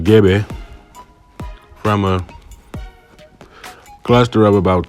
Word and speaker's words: Gbe: um the GBE languag is pronounced GBE from a cluster of